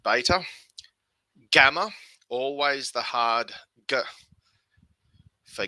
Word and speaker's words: beta: on so alpha or alpha beta although some people say to me that two thousand years ago they actually pronounced it veiter i'll stick with beta gamma always the hard